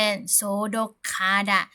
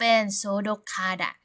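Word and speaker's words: 소독하다: จะ ออก เสียง เป็น โสดก คาดะ ไม่ โสดก คาดะ นะ ฮะ เมื่อ ตัว สะกด ก ไก่ ไป เจอ กับ พยัญชนะ ต้น ห นก ฮูก นะ คะ เสียง น้อง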